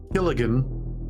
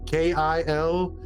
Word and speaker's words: Kilgallen: Dorothy Killigan. I may be pronouncing it wrong. Kilgallen.